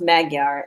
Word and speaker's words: Magyar: So it is pronounced Magyar at 6%.